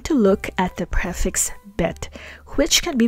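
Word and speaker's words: ב: and that dot inside the letter bet is called a dagesh.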